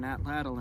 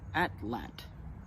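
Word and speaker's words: atlatl: to throw on an atlal hunt with I was recently told that the correct way to pronounce at lle is at lat and that's going to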